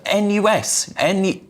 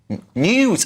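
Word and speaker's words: NIUS: Now, to discuss this, I'm pleased to welcome Julian Reichelt, a founder and editor-in-chief of NUIS? News. Oh, it's pronounced news.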